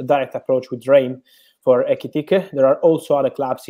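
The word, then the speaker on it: Ekitiké: Firstly, Fabrizio, can you give us the latest on Newcastle's interest in the Rem striker, Ekitike? I hope I pronounced that right. Yes, the pronunciation is correct.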